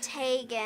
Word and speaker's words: Tegan: Um it's Tegan. Tegan. Sorry. I know. You even told me how to say it and I messed it up.